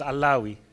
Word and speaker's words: Allawi: attempt to correct you even even though you got my name wrong well my name is allawi um anyway one of